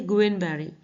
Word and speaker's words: Guillain-Barré: हिंदी में से कहते हैं गुइलेन-बेरे सिंड्रोम और इंग्लिश में इसका प्रोनाउंसिएशन है गुएन-बेरी सिंड्रोम, ठीक है, गुएन। नेक्स्ट देखते हैं, पुणे में